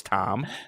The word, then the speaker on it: QTOM: The Q is silent. His name is Tom. Okay. It's just spelled QTOM.